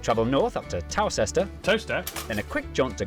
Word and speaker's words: Towcester: Mousehole, Next, travel north up to Towcester, Toaster, then a quick jaunt to Gotham.